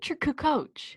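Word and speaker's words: Kukoč: that's Toni Kukoc man is it coo coo coo coo coach coach okay that's how I've heard it pronounced he's Serbian I believe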